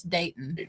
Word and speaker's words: Dayton: His name is I said Dalton. It's Dayton. Dayton Borick and it's spelled like Jason Bourne, like the movie Borik.